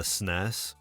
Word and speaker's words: SNES: If you love the classics like Donkey Kong, Back on the SNES, which is the proper way to pronounce it.